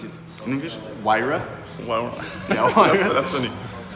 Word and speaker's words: Huayra: How do you pronounce it in English? Huayra?